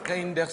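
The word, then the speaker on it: Reynders: Ça se prononce comme ça s'écrit. Reinders.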